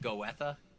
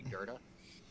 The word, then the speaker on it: Goethe: video yeah it was it was like go Etha if that's what it looks like but it's actually goethe anyway oh i even